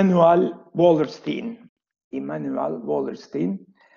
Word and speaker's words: Wallerstein: e uel wallerstein Emmanuel wallerstein Ben hep wallerstein derdim wallerstein da deniyor ama galiba yaygın olarak wallerstein deniyor sonunda Hani ben de e wallin telaffuzunu benimsedim Eee diyelim Evet şimdi wallerstein